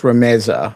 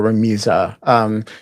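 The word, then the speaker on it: Rümeysa: My Turkish pronunciation is not wonderful, but I believe her name is pronounced Rameza or Ramiza.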